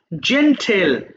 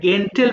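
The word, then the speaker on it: gentle: জেন্টেল, এটা অনেকে ভুল করে গেন্টেল বলে ফেলে, এটা জেন্টেল, জেন্টেল।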